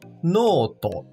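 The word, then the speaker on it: ノート: Perceba que há um traço entre o no e to, que indica o prolongamento do no, tornando-se noto.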